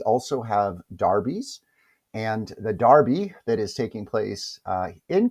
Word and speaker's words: Derby: Now, if you're not familiar, it's spelled Derby, but they pronounce it over in England as a derby.